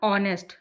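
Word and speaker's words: honest: अब यहां पर एच से स्टार्ट हुआ है। यहां तो एच का ही नहीं है। लेकिन एच साइलेंट हो जाता है। ऑनेस्ट यानी इसीलिए यहां पे एन आ गया।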